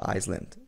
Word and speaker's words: island: Aqui no island, só uma curiosidadezinha, a gente não pronuncia o S, tá? Por isso que não tô falando island, é island mesmo.